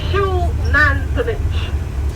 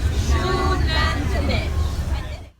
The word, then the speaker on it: Xunantunich: The X, as in front of the word, is pronounced like SH, like the shoe on your feet. So the name of the tour, the site that we're going is Shoe-nan-two-nitch.